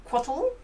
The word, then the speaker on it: Cóatl: So after Taryn's explanation, we're gonna do to play this full game of Cóatl.